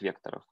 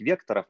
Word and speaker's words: векторов: Во-первых, ну вот у меня почему-то есть такое мнение, что правильно говорить векторов, а не векторов.